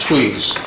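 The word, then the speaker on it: Tewes: and the council members, my name is spelled T-E-W-E-S, which does not pronounce the way it's spelled. It's pronounced Tweez.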